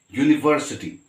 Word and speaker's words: university: look at these words when you say university it is beginning with a vowel you but it is beginning with a consonant sound you all right that's why